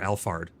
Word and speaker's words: Alfard: Or Alfard, not Alfred.